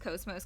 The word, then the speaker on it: KOS-MOS: And KOS-MOS is cosmos, but it's pronounced KOS-MOS because it's basically just translated to Japanese and back, and it becomes KOS-MOS. But I think KOS-MOS sounds pretty cool too.